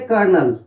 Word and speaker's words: Colonel: एक और वर्ड है जैसे कर्नल, कर्नल, इसकी स्पेलिंग COLONEL, कर्नल, राइट।